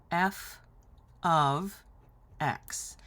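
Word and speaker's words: f(x): heck is this well this is not multiplication this right here is pronounced f of x and you'd be forgiven for thinking this was F times x and also for asking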